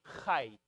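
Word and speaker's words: חי: Now, when you're a fluent Hebrew speaker, you just say chai. But notice that all the sounds are there.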